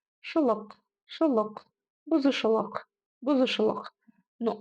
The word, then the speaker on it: бұзушылық: Помним, как у нас произносится буква «К» с хвостиком снизу. Нужно просто откашляться через обычную букву «К». Шелок, шелок, бузушелок, бузушелок.